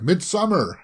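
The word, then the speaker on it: Midsommar: feel about that one mid somar midsummer some people pronounce it I always say mid Samar because two hours was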